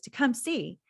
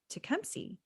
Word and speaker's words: Tecumseh: this whole thing saying Tecumseh and then Nancy says to come see so this rhyme made me realize the proper pronunciation if it was correct back in the 1800s must truly have been Tecumseh and so every time